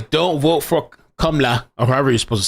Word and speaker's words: Kamala: He says, don't vote for Kamala, or however you're supposed to say it. They say now that, like, if you say Kamala, it's an attack on her, personal attack.